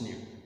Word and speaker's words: knew: Because if I take away the K from this word, it becomes noun, I take away the K from this one, it becomes new. Like the same new like I've pronounced.